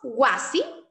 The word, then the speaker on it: wasi: Ari, decimos wasi, Ari, wasi, damos cuenta que cae en la penúltima, Ari, en la penúltima sílaba.